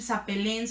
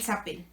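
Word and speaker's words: s'appellent: o ilsa pelón y no la ent de los verbos de primer grupo que son los que terminan en erre que están en las últimas personas nunca se va a pronunciar o sea Nunca van a decir sapelens apelland Man geram nada de eso se dicen nada más como en los singulares y el sapel el zapel Espero que eso haya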